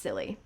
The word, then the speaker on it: Scilly: found a safe haven in the Isles of silly an archipelago in Southwest England comprising five inhabited islands and a lot of rocks and yes it is pronounced silly the Dutch gave Chase hoping to bombard the